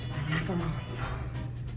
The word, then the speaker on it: macaron: Macarons.